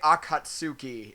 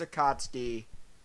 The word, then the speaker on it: Akatsuki: we find the akatski the akatski or they say Akatsuki in this which I'm sorry to all of you who all of you for pronunciation especially you Naruto fans out there but it's pronounce a kotsky get over it um now now